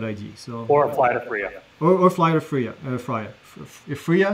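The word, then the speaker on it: FRIA: It's like you're getting fried, Freya. It's a Freya. that'd be a really bad name for it then, wouldn't it? No, and the Freyas are going to be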